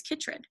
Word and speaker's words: chytrid: So if you guys didn't know, these help us pronounce it. So I looked at this, it looked like chytrid. So this word is chytrid.